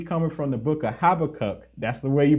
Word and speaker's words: Habakkuk: i'm gonna be coming from the book of habakkuk that's the way you pronounce it chapter two verses two through three